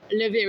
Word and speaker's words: LaVire: You're laughing now, but LaVire, LaVire. We are on Shopify, Spotify, everywhere, Facebook, Instagram, YouTube. Yeah, all the social media tags are LaVire Band. Yeah. Right. At LaVire Band. Yeah. Rhymes with beer.